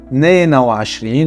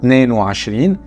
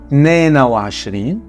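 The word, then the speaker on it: تنين وعشرين: Pareil, il vaut mieux dire Neena wa Ashrin, même si des fois on entend Neen wa Ashrin. Neena wa Ashrin, Tleta wa Ashrin, Arba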